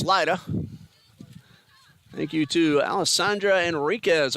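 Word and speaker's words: Lyda: Excellent defense by TBC's Lita. Might have mispronounced name earlier. Lydia. It's L-Y-D-A. Sorry, Lita. Now I'm told it's Lida.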